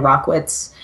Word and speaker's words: Rachwitz: life stuff too but it's rock whatz and my last name is spelled RAC HW itz so doesn't actually look like how it sounds but that's how you